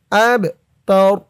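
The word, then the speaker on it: أبتر: হামজা দিয়ে বা ধরবে, এই বাটা কলকলার হরফ, ধাক্কা দিয়ে পড়তে হবে। আবে, হুয়াল আবে। তা জবর তা, র পেশ রু, অক্ফ করার কারণে রর উপরে পেশটা সাকিন হয়ে যাবে, উচ্চারণ হবে এখানে আব তার, আব তার।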